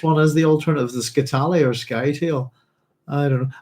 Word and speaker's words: Scytale: I speak anyway, but if you're doing Italian, to overemphasize is the penultimate syllable. and he's from Scytale, like that. But yeah, I don't know. I've been saying Scytale for years, I suppose, and it's one of those things that when you realise, oh, I think I've been pronouncing this character's name wrong, but you've been doing it for so long, it's hard to get out of the habit, if you see what I mean.